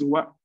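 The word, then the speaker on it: は: Usualmente la pronunciación es ha, pero cuando la veamos, cuando veamos esta, después de palabras como gakse o así, marcando el sujeto, la pronunciación es wa.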